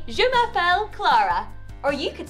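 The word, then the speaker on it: je m'appelle: French well my name is in French is jumapel so I would say jumapel claraa or you could say jumapel the gift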